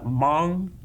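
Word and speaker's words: Hmong: And uh the uh mong uh people of China um and that's spelled uh h m o n g.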